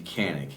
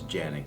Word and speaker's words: Canik: Phonetically, it would be Canic. CA, but it's pronunciation is Janick has been pointed out by several Turkish people.